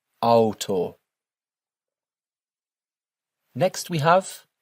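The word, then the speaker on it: Auto: Don't forget our rule here for pronouncing the letters A and U together. D alto.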